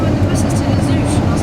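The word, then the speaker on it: Les Houches: I don't understand why it's pronounced Les Ouches. Don't even question the French pronunciation on things. When I was reading the bus timetable, I was like, Les Hooches.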